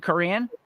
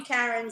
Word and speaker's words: Karen: No offense, but But you don't pronounce it Korean? I do. But everybody calls me Karen, so I'm just like, whatever. It's Yeah. Karen. Yeah, it's fine. But Korean. I was thinking about. You know what? That's one of those things that's bothering me all day. I'm going Korean. It's got to be pronounced Korean.